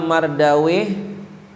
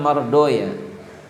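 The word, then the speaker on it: Mardawayh: tapi di dibaca lain misalnya Imam sibaw itu ahli Nahwu maka bacanya Imam siboya tulisannya sibawe Imam siboya ada lagi Imam mardawih maka bacanya Imam mardoya Nah sekarang sansaweh ini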